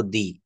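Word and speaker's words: the: অর্থাৎ কনসোনেন্টের আগে, কনসোনেন্টের আগে দা উচ্চারণ হবে আর ভাওয়েলের আগে দি উচ্চারিত হবে।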